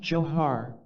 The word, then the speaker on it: Jor: knew in the experience my name was Jor pronounced johar and I knew that